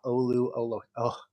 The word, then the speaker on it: Oluwatimi: If you scroll down to number 13, you've got Oluwatimi.